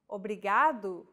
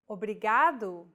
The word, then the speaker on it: obrigado: is pronouncing this sound think of the quick tapping motion your tongue makes as it strikes the top gum ridge in words like ladder or butter altogether it's obrigado obrigada okay one last